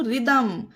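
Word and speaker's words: rhythm: आगे देखते हैं example R एच वाई टी एच एम इसे पढ़ेंगे हम रिदम इसे ऋही दम नहीं ऋही नहीं हा नहीं होगा यह होगा रिदम ठीक है उसी तरह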